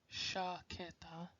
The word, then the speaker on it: chaqueta: Che, che de chueco, chocolate, chaqueta, not chaqueta, it's chaqueta.